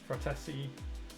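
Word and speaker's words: Frattesi: Fratesi, that's how you say it, Fratesi to Man United.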